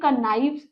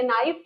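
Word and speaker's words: knife: वाइफ का wives नाइफ का नाइफ्स and shelf का शेल्व्स देखिए इसे के नाइफ नहीं बोलेंगे इसको नाइफ बोलेंगे के साइलेंट होता है मूविंग ऑन टू द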